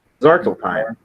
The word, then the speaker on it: Svartalfheim: It's the hardest one to pronounce, I think. Hold on. It's the realm of the Dark Elves. Yes. Svartalf. Svartalfheim.